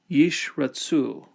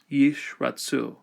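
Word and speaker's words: ישרצו: Yishratsu, let them swarm. So the first one will be silent, the second one will be vocal. Yishratsu.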